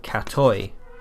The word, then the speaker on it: katoj: J to the end the J is pronounced like a why cat o cat toy to refer to yourself